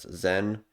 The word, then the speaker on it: XEN: Zen is pronounced as Zen.